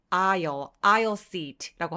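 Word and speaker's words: aisle: 복도 자리는 뭐라 그래요 아라고 합니다 여러분 아 할 때 중간에는 발음하지 않아요 자 그러면 부탁할 때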